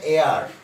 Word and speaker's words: heir: তার মানে কি দাঁড়াচ্ছে দেখো, ইউ আর এয়ার, ইউ R sorry an এয়ার, এয়ার, এই দেখো এটা উচ্চারণ হবে এয়ার, মানে উত্তরাধিকারী।